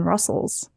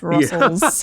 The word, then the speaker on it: rustls: I've always said Rust TLS, but now that I think about it, there is only one T. Yeah. It's like Russell my Jimmies, but it's just Russell's.